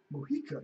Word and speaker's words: Mojica: Mojica. Yep, that's how you pronounce it.